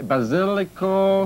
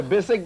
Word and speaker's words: basilic: Basilico. That's right. Aglio. Aglio, that's right. Aglio, garlic, cibollo. Cipolla, the onion, l'oignon. L'oignon. And how do you say basil. Le basilic. Le basic. Listen. The basic basilic.